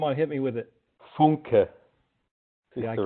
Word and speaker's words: Funke: Funke is Yeah, the right pronunciation. Funke. We say Funky.